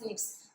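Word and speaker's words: SNPs: differences of these genes are called stiffs they're pronounced lips which means single nucleotide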